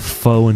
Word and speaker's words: faux: It's pronounced Fox.